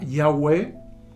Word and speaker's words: Yahweh: se pudiera pronunciar es se pronuncia yahwe yah algunos eh Y la mayoría de las biblias en español dicen Jehová pero recordemos que la letra j no existe en el hebreo y el el la